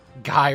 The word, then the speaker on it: Guy: Guy rhymes with buy.